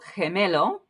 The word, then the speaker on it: gemelo: So gemelo, this is a soft G. It's kind of an H. And this will depend dialect to dialect. Again, some Spanish speakers will really have a kind of sound, others not so much.